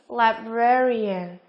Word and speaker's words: librarian: D, librarian.